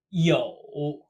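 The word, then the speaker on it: 又: last character for today yo pronounced exactly like to have no difference same tone as well yo this character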